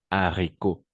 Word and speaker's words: haricots: liaisons voilà attention d'accord en français il y a deux types dash le h aspiré et le h muet et le h aspiré et haricots en effet c'est ça s'écrit avec le h aspiré c'est pourquoi on va dire les haricots d'accord les haricots mais par contre on